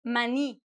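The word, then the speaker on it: maní: In some countries in Latin America, they call it mani.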